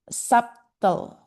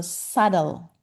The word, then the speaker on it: subtle: And somebody said subtle with the B um with the B was voiced out. So the correct pronunciation is the B was silent. So subtle. Subtle.